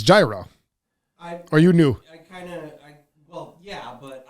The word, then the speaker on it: gyro: It's gyro.